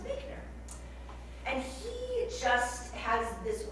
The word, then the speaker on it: Buechner: So if you've ever seen some things around, writings around spirituality and reflection, I learned it's not pronounced Buchner, it's pronounced Buchner.